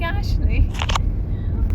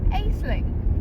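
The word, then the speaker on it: Aisling: Ashley it does not look like spells like Ashley that's very funny like it's spelled a i s l i n g now I thought that was pronounced aeling and that's how I've been pronouncing it but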